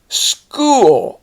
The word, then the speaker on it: school: Next we have school. That's pretty interesting because in this one right here, the H is silent, and you hear the C.